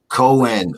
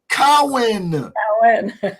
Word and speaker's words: Cowan: the very lovely cindy cohen we are out of here that went actually cohen allen cowen furious wrong you got to say it right cowan and please forgive me